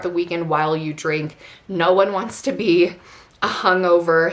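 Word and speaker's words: Nuun: drip drop or a noon i think is how you say it like n u n n anyways i'll pop everything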